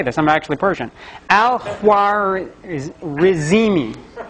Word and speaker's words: al-Khwarizmi: Al-Khwarizmi, which sounds like algorithm.